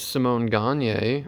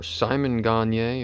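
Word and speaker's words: Simon Gagné: is simone gagne or simon gagne or simon gagne or however you want to pronounce it there's 700 million ways but there's only one right way and i'm pretty sure that's simone next up is another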